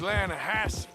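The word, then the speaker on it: Lannahechee: Yeah, but it's pronounced Lannahache.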